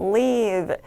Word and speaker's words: leave: 자, 여기 나오는 live 같은 경우는 좀 짧게 빠르게 발음해서 live 이렇게 끊어주시면 되고 여기에서 남겨놓다 정도의 단어는 leave 길게 끌어 읽어주시면 되겠습니다.